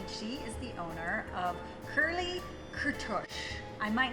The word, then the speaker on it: Kurly Kurtosh: In Hungarian, it's pronounced Kurly Kürtősh, but you could say Kurtosh to make it easy.